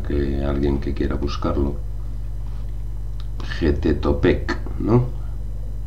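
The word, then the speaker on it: Xipe Totec: Getetopec, ¿no? Sí, o sea, yo lo pronuncio J porque como está escrito en aquel tiempo y tal, Sí, igual como México, es pues lo que hay. Xipetotec.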